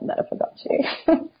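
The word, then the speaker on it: Meta Fagote: by Brazilian composer Felipe Lara, so it's called Meta Fagace.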